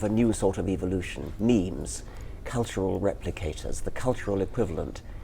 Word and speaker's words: meme: So I called it a meme. So it doesn't exactly rhyme with gene, but it's sort of short and sounds vaguely similar.